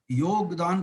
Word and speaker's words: योग: अब हम भी उसको योगा बोलने लग गए। मजे की बात देखिए, उसकी स्पेलिंग इंग्लिश में योगा है तो हम भी योगा बोलने लग गए, जबकि वो योग है।